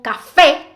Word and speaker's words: café: Las palabras agudas como café llevan la mayor fuerza de voz en la última sílaba.